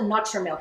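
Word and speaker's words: NutraMilk: They call it Nutrimilk. It should be Nutra, but Nutrimilk.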